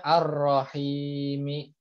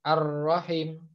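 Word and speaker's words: الرَّحِيم: setiap sukun yaitu bacot maka bacanya ar-rohim seperti itu ya bukan ar-rahim tapi karena ada tanda panjang kasrah bertemu Ya Sukun maka menjadi panjang seperti itu ia begitu Ingin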